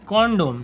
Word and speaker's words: condom: क्यों एक ही मैं आज तक नहीं समझ पाया जब इसकी सीधे सीधे स्पेलिंग है कॉन्डोम CONDOM इसको कंडोम क्यों बुलाते हैं फिर हिंदी में